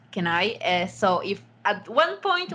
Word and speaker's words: Kenai: start just full disclaimer in Spanish kina is actually pronounced can I so if at one